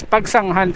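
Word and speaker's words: Pagsanjan: nandito tayo sa Laguna, Pagsanhan got its name from the word pagsangahan. Kaya yung mga locals dito, way nila ng nila pinopronounce ang bayan ng Pagsanhan is Pagsanghan talaga, since yun ang original name. Nabago lang through over time, nabago lang yung spelling.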